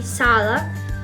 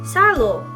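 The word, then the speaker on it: сало: know, but for phonetics, in Russian, the O's are pronounced like A's, and in Ukrainian, the O's are pronounced like O's. I have to think about an example. Maybe, for example, lard, which in Russian would be sala, even if it's written with two O's. In Ukrainian would be salo, with the final O, because it's written like, it's pronounced like an O.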